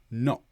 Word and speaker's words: knock: So gnomeat and also kn the K is silent knock.